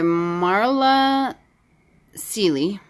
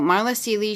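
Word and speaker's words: Marla Cilley: show you here it's called sink reflections by Marla Sealy oh yeah that's how you pronounce it so Marla Sealy she wrote discovered the secrets that I've changed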